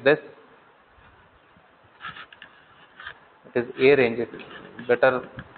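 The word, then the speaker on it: arange: It is a range, it better pronounce it as a range, otherwise you end up writing arrange. It is not arrange, it is a range.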